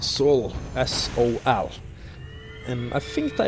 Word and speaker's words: sol: And sol, if you pronounce it in Norwegian, sol, that means sun.